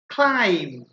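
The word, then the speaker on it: climb: আচ্ছা যাক তাহলে এখানে হচ্ছে ল্যাম কম কম ক্লাইম ক্লাইম ডাউট ডাউট এখানে কিন্তু বি উচ্চারিত হচ্ছে না তাহলে মধ্যা কথা হচ্ছে যে সাধারণত এম আর বি যদি একসাথে থাকে তাহলে সেই ক্ষেত্রে বি উচ্চারিত হয় না এম আর বি একসাথে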